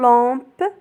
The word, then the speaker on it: lampe: L plus on se prononce long comme une lampe.